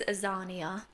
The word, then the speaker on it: Axaniah: And we pronounce it as Axaniah because I still wanted Zana to be in it, but I just wanted